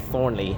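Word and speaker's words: Thornleigh: the normal train Services Thorn they actually pronounce this exactly like Thornley but it is not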